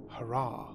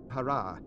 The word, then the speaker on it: Harah: of still God's wife it is not pronounced Hara it is pronounced Hara as Frank Herbert says Hara this is another name